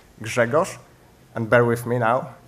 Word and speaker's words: Grzegorz: if you're still wondering after keynote, how's the pronunciation of the paleontologist friend of the keynote speaker, it's Grzegorz, and bear with me now, Brzęczyszczykiewicz.